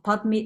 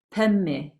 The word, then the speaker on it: Padme: The pronunciation of Padme is Pemme, oké? De uitspraak is niet Padme, maar Pemme.